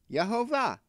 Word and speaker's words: Yehovah: Actually, I never knew how to pronounce it until I heard Zev Peret, who speaks Hebrew, knows Hebrew, and he pronounced it. He uses it. Yehovah.